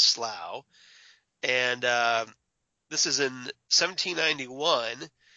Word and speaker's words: Slough: wondering it's spelled SL Oh ugh but it's pronounced Slough and this is in 1791 where the doctor